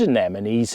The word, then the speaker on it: anemone: And people quite often either say it or spell it wrong, and it is Anemone, anemone. And like I say, coming from the god Anemos.